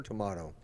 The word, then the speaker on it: tomato: me I don't even write tomato or tomahto let's call the whole